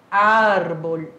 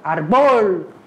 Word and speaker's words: árbol: E por que tem um acento aqui? Vai ficar árbol, árbol. Por quê? Para indicar que a sílaba tônica é o ar e não arbol. É árbol, certo?